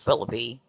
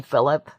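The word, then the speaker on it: Phillippe: Um, some of them they really pronounce it Philippy, you know, weird, but Ryan Phillip.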